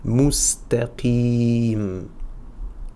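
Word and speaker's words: مستقيم: un tanwin à l'écrit, je vais prononcer un soukoun à l'oral. Donc, mustaqim.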